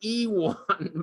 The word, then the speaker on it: Iwan: His name is spelled Iwin. Apparently it's really Iwan, but we call him Ivan and he never gets mad.